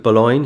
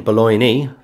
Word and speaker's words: Boulogne: would pronounce it then, Boulogne. They pronounce the E, but today the E is silent.